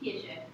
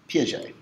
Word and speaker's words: Piaget: I always mispronounce that name. What was it? Piaget. Piaget. I was close.